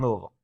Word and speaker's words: Louisville: I'm gonna like mumble it a little bit and make it just one syllable. That's pretty much how you have to do it.